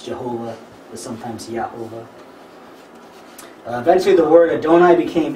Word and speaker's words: Jehovah: you read that ially it says yahovah which isn't the way that the old Val is pronounced in Jewish scripture but that's how we get the name Jehovah in English and that's why it's a j also because you know